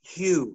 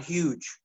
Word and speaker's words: Hugh: be carol yes dear his name is pronounced hugh not huge i don't know i